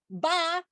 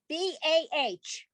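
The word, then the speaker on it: bah: and scrooge famously says ba humbug b-a-h ba you don't hear an h at the end there you hear the h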